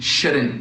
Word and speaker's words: shouldn't: E notem que eu não estou pronunciando o T no fim, né? Couldn't, shouldn't, wouldn't.